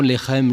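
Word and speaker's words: לחם: Baït, la maison, Lechem, le pain, Bethléem.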